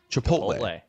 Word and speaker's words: Chipotle: my best to participate and I do like chipotle sauce it's just funny though that you have